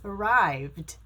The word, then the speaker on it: arrived: the ed as a try to pronounce this word is it arrived or arrived it's arrived because the v is a voiced consonant so you need to pronounce the ed like a d arrived and this one is